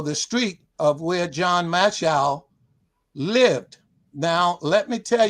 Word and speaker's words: Mashol: Now, my latest book is entitled, as you guys shown, From Slavery to Shipwright, the story of John Mashol, and that is spelled Mashol, as in show.